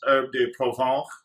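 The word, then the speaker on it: Herbes de Provence: Apparently this is pronounced Herbe de Provence, a la Francaise, and then some gut lemon pepper here.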